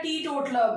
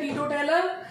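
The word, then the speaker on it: teetotaler: इसे बहुत से लोग प्रोनाउंस करते हैं टीटोटेलर, और वो वही वाला हाल हो जाता है, इंग्लिश हम शर्मिंदा है, तेरे कातिल जिंदा है, ये वही वाली चीज हो जाती है। दैट्स प्रोनाउंस्ड टीटोटलर, ये टीटोटलर है।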